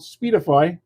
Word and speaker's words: Speedify: But a company called Speedify. I'm not getting any money for this. I'm just letting you know. Speedify, what they do is if you go on their website, it's spelled like it sounds, SPEEDIFY.